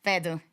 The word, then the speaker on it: Peetu: P2 would be the American name, right? Yeah, P2. Yeah, just so that was just hella Finnish. That was the proper pronunciation.